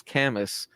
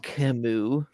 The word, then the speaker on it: Camus: That's just how I read it, was Camus. And I got so shamed. It's Camus.